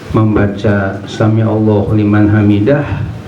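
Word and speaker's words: سَمِعَ اللَّهُ لِمَنْ حَمِدَهُ: shawab, yang tepat adalah Sami'allahu liman hamidah. Sami'allahu liman hamidah. Jadi dalnya itu enggak dimadkan, enggak dipanjangkan, tapi qasar, artinya bacanya pendek saja karena dia enggak ada huruf alif setelah dalnya.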